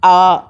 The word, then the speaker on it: hour: The train left the station an hour ago. H is silent, so an hour ago.